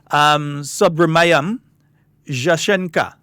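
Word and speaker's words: Subrahmanyam Jaishankar: I should take a crack at attempting to pronounce that name. Subramaniam Jaishankar.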